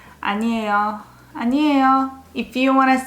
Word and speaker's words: 아니에요: As you can see, it ends with a yo syllable. But as you know, yo at the end sounds more like yo. Lazy yo. 아니에요.